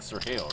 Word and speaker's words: Sergio: Sergio don't even pronounce right in Spanish. It would be like Sergio, right?